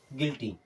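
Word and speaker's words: guilty: भी वावेल आता है यू के बाद में जब कोई भी वावेल आएगा कोई भी वावेल हो सकता है ए ई आई ओ यू कुछ भी आता है हर केस में यू क्या होगा साइलेंट होगा पर य हो जाएगा साइलेंट जैसे देखिएगा जी यू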